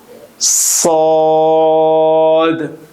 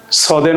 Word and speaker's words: صاد: সদ। সদের মাখরাজ হলো জিহ্বার আগা সামনের নিচের দুই দাঁতের পেট ও আগার সঙ্গে লাগিয়ে উচ্চারিত হয়।